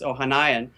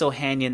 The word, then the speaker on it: Ohanian: but the marketing principal, his name is Alexis Ohanayan. I don't know if I'm saying that Alexis, right. so you teach me the Spanish, I teach you the English pronunciations. Yeah. Alexis Ohanian, the guy who founded Reddit and is now